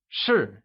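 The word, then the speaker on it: 是: Notice that the translation for 10 is shi, while that of am is shi. The only difference being that of the tone.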